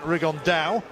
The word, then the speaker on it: Rigondeaux: That's coming up in about 3 weeks, and Tete's talked about fighting Rigondeaux, or as he's correctly pronounced with the Spanish accent, Rigondeaux.